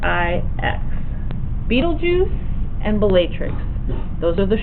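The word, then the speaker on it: Betelgeuse: of your page is called Beetle Juice Beetle ju and it's not spelled like Beetle and then juice it is b e t e l g not a j but g e u s e Beetle Juice b e t e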